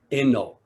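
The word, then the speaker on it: Enō: became the sixth patriarch in japanese his name is pronounced eno or loku locus luxo the sixth patriarch inno when he was just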